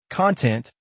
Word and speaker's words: content: Pronunciation tip, put the emphasis on the second part, content. Don't confuse it with content, which means the information inside a book or video.